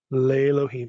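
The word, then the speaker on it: לֵאלֹהִים: So if you have the preposition plus Elohim, if it's Le Elohim is the way you would correctly pronounce it.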